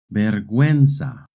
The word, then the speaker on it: vergüenza: In Spanish, when a word has GUE or GUI, the U is silent. But if the U has a diéresis, then you do pronounce the U.